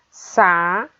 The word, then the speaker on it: sapato: Sa-pa-to. A sílaba pronunciada com mais força é a sílaba pá, sapato.